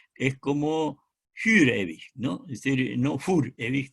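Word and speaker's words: für ewig: Fürewig, la U es una U alemana que se pronuncia como la U la francesa, es como Fürewig, ¿no?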